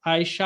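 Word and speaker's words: Ayşe: अगर आप देखें तो आयशा होता है, उसको ये टर्किश में आयशे बोलते हैं।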